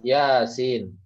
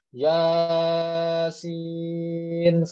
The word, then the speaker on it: Yasin: Jadi ketika baca ini kalian jangan bacanya Yasin salah ya. Harusnya iya dulu 2 harokat baru sinnya 6 harokat. Yasin begitu ya.